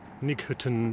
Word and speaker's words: Knighton: The outskirts of Knighton, or Knighton, depending how you want to pronounce it.